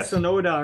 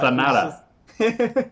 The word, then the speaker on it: Sonata: I keep saying it wrong. I'm like Sonoda or something like that. Sonata.